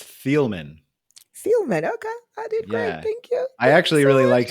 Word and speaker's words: Thieleman: pronounce your last name yeah you did great it's thielmann okay I did great